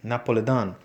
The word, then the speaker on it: napolitano: complexion often boasted that she was napolitano from naples she pronounced it napolidan my father who was